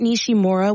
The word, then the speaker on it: Nishimura: you pronounce that for us please sure it's pronounced nishim MOA Comet nishimura was quite a sight to see it's always